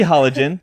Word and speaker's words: halogen: what how it's pronounced it could be hologen halogen or hologen I've literally never heard it pronounced any other way except for hologen it can be both wow so there you go